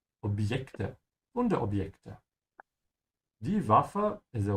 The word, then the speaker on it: Objekte: In English, when you say object, there's a D sound before. You say obd, obj. In German, there's no such thing. You say Objekte, Wunderobjekte.